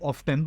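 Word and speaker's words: often: তো এখানে কাজের পরম্পরা বোঝাতে সবসময় তোমার হাউ অফেন দিয়ে করতে হয়, তাহলে হাউ অফটেন বা অফেন দুটো উচ্চারণ কারেক্ট।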